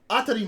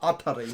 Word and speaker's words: ATRI: No, not Atari. That's how they say it in the anime!